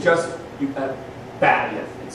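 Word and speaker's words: בַּיִת: Most Hebrew words are accented on the last syllable. Bayith is on the next to last syllable.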